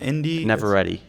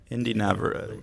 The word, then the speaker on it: Inde Navarrette: Inde Navarrette. Inde Navarrette.